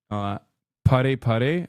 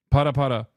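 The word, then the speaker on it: ParaPara: This time not twerking, but this time specifically, pare pare. Is that how you say it? I'm putting Miskiff through another humiliation ritual. Yes. Para para.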